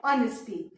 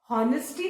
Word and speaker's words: honesty: Spelling क्या है, HONESTY, ऑनेस्टी। अब now look at the spelling, इसको हम हॉनेस्टी नहीं पढ़ेंगे।